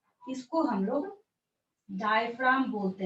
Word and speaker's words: diaphragm: तो इस स्ट्रक्चर को आप लोग लेवल कर लेंगे, DIAPHRAGM, जी साइलेंट होता है यहाँ पे। डायफ्राम लिख लेंगे बाद में,